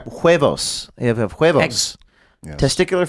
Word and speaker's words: huevos: Weavos? Huevos.